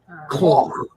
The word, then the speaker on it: Clough: Clough. Like cough, only with a claw.